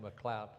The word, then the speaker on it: MacLeod: It looks like MacLeod. They pronounced it McLeod.